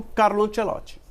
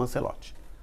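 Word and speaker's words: Ancelotti: Então, veja só, não sei nem se ele teria tido a oportunidade como auxiliar técnico do Carlo Ancelot, certo? Ou Ancelote, como você preferir, tá?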